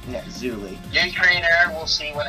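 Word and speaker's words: Zuly: Z-U-L-Y. It's Zuli. Yeah, Zuli.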